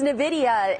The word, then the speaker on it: Nvidia: down on how much and second of all nvidia did i say it right it's nvidia harris and you're right it is in the